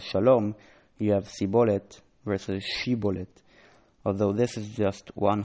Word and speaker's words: shibboleth: by having them say shibboleth, stream, river, might relate here. The Ephraimites apparently pronounced shibboleth as sibboleth.